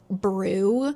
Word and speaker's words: Bru: His name, I think, is pronounced Brew, but it's written b r u. And the sentence starts like Akers just turns and goes, "Bruh." It's like, "His name's Bruh."